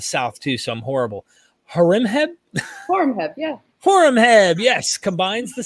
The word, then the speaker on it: Horemheb: Her dissertation on the reign of the pharaoh, correct me on trying to pronounce them. I am from the South too, so I'm horrible. Horemheb, yeah.